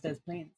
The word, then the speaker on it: Des Plaines: It is Des Plaines. I guess Criminal Minds gets one right this time. The worst one. Hey, Illinois! Why are you pronounced like that, but Des Plaines is pronounced all of it?